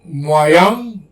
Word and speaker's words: moyen: J'aime le moyen de transport en France.